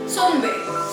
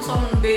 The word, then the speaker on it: 선배: Selanjutnya ada Sunbe. Kalau penulisannya sih banyak orang yang nulis tuh Sunbe pakai U, tapi sebenarnya kayaknya penyebutannya Sonbe gitu loh, Sonbe.